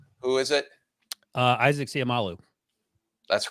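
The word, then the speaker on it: Seumalo: Guard from Philadelphia who is it uh Isaac siamalu that's correct that's the correct pronunciation so is the official Eagles former Eagles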